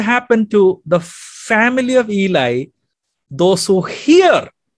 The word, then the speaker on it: Eli: of the high priest eli many of you pronounce the name as ali high priest eli because their father was